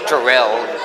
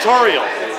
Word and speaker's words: Toriel: Well, it's funny because she was designed as a parody of tutorial characters. Oh, hence tutorial. Okay. Nice. Yeah, it's short for tutorial.